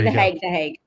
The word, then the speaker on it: the Hague: No, the Hague.